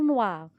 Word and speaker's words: noirs: Exemple, les vers noirs. S, c'est une lettre muette.